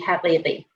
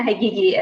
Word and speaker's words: Haghighi: The original name is from Iran, so I'm from Iran, and the original pronunciation would be Haghighi. But that's really hard to expect of people. So Haghighi is my, preferred way of pronouncing my name.